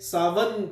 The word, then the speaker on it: Samhain: कर देता हूं SAMHAIN, लेकिन जब इसे हम प्रोनाउंस करते हैं तो ये सावन करके बनता है, जैसे एक लफ्ज सावन है उससे मिलता जुलता इसकी प्रोनाउंसिएशन है।